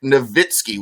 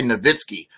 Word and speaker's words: Nowitzki: an American English pronunciation, like Dirk Nowitzki. We say Nowitzki. I think really he would say Nowitzki.